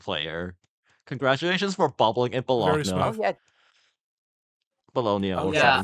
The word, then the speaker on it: Bologna: I'm not sure how to pronounce that, because the Italian pronunciation, so the right one, is Bologna, but it just sounds wrong in English. Bologna sandwich. No, it's Bologna. It sounds fine.